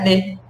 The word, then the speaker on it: née: Elle est née. Olha só, não tem diferença na pronúncia. Il est né, elle est née.